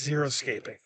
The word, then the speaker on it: xeriscaping: It's pronounced xeriscaping, and it's a type of landscape where you use mainly natives, and you don't need to use irrigation, and they are self-sustainable.